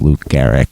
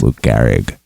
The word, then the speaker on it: Lou Gehrig: in that same game Megan answered who is Luke Garrick instead of who is Lou Gehrig so since it was